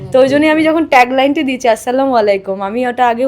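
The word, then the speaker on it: السلام عليكم: আমি যখন ট্যাগলাইনটি দিয়েছি আসসালামু আলাইকুম আমি ওটা আগে উচ্চারণ করতে পারতাম না এখন শিখেছি প্রপার আগে আমি বলতাম আসসালামু আলাইকুম আমাকে একজন ফ্যান বলেছিলেন ওটা আসসালামু আলাইকুম তো ওটা আমি এখন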